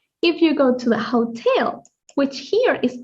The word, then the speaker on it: hotel: will see the same, but it's not pronounced hotel. It's called hotel, hotel, because the H in Spanish is silent. So, hotel will be hotel.